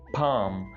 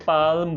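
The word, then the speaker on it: palm: पाम, इसको कुछ लोग पाल्म बोल देते हैं, एल को भी बोल जाते हैं। भाई एल को यहाँ पे बिल्कुल प्रोनाउंस नहीं करना, ऐसे समझे एल है ही नहीं, गलती से लग गया है। ये पाम है, पाम, राइट, एल नहीं बोलना।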